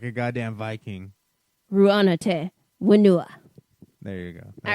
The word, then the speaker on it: Rū Ana Te Whenua: Ru'ana Te Wenua.